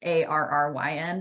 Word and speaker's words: Arryn: And Aaron's name is spelled a little weird for an Arryn. It's not, it's Arryn, but probably once you get to the Lift with Holly and it'll come up.